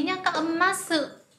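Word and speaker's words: ます: Nhưng mà các bạn đừng đọc rõ chữ sư nhé, đây thành âm gió, chúng ta sẽ đọc là masu.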